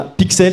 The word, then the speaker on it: Pix31: Et je vous invite à aller jeter un coup d'œil à Pixel. Ça s'écrit Pix31 si vous cherchez.